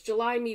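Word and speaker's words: JUL7ME: platforms it is called July me and the way it is spelled is j-u-l-7 M me so it's July me but with a seven in the middle of it and the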